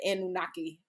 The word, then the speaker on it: Anunnaki: If I I know I I have to pronounce it right. The Anunnaki.